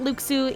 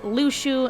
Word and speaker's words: Luxu: It is not Luxu, it is Lushu, and I totally missed it in the movie because I'm stupid.